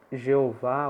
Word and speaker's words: Jeová: não pronuncia isso eh em português a pronúncia pode ser Jeová ou Javé né os protestantes tendem a preferir Jeová os católicos tendem a preferir Javé Mas de fato tanto